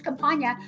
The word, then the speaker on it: Campagna: He said Mitch Campana, and I said no, it's Campagna. We introduced him, and he's like, I'm Mitch Campana. I said I'm Campagna. You say it wrong, and I got him to change his name at 32 years of age to Campagna, the way I say it.